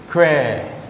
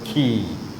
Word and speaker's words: quay: It is que, isn't it? Que. But not que. It is also key.